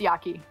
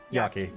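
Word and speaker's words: 焼き: yaki i guess okay like technically like correct pronunciation it's yaki yaki gotcha like yakisoba yeah yeah exactly exactly yep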